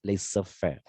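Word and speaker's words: laissez-faire: policy of laser fare it is pronounced as laser fair and because of this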